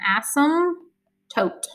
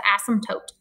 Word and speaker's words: asymptote: called it's called an asymptote okay i know it's a weird word and the p is completely silent you don't even say pronounce the p it's an asymptote an asymptote so what this asymptote